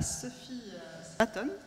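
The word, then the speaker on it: Sophie Swaton: spiritualité je vais passer maintenant la parole à Sophie Aton parce que je prononce correctement bien alors tu économises et philosophe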